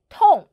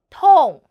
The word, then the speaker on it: 痛: The word of today is Tòng. In this video, I will teach you how to pronounce it, how to write it, and how to use it. First, let's read together. 我们一起读 Tòng.